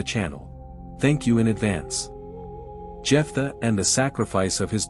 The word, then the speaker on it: Jephthah: thank you in advance jeffa and the sacrifice of his daughter jeffa in phenician Hebrew is pronounced yifa he appears in the